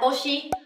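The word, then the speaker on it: 年: Ờ, từ này các bạn sẽ đọc là nen hay là toshi? Ờ, trong cái nghĩa này mình sẽ đọc là toshi nhá.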